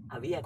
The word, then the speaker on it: avíate: ¡Avíate! Con acento en la I.